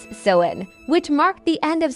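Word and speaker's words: Samhain: They celebrated a festival called sewing pronounced sen which marked the end of summer and the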